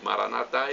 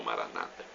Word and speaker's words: Maranata: evangélicos ou protestantes Maranata eles colocam a tônica na penúltima sílaba nós católicos na última então nós falamos Maranata eles falam Maranata não importa a pronúncia